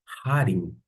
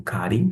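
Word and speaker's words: χάριν: atenção para Harim, porque Harim pode ser pronunciado como Karim, fique à vontade, mas, como eu disse, eu pronuncio com o som de CH alemão.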